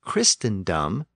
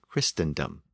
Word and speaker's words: Christendom: is three syllables so the first syllable tend tended to be pronounced quick and short and that might explain the difference that orm noted between Christ and Christendom this rule also explains